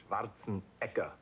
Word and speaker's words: Schwarzenegger: Actually, in Austria, they pronounce it Schwarzenegger. Schwarzenegger. Yeah, so just to confuse you a little bit.